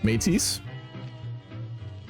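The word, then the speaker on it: Métis: name ish this is pronounced metis matis Matisse so French term for people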